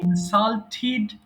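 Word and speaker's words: insulted: অপমান ঠিক আছে ইনসাল্ট ইনসাল্টেড ইনসাল্টেড দেখো আমি কিন্তু টিড বলি নাই আমাদের যদি আমাদের শব্দের শেষে টি ইডি থাকে তাহলে টিড বলবো সো ইনসাল্ট অপমান করা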